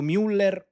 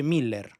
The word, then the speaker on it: Müller: Infatti, fu acquistato Luis Antonio Correa da Aosta, detto Miller, che ho sempre chiamato Müller, ma che in realtà si pronuncia Miller .